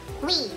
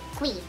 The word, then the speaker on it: Cui: So, dapat, pretty people, kung katong nakailanan na ako, ang pagtawag sa kuwa is Cui. Ang pagpronounce sa akong last name is Cui. As in, K-W-I, Cui.